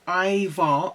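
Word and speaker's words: Ajvar: pepper and aubergine dip as far pronounced Ivar okay Ivar is Smoky versatile and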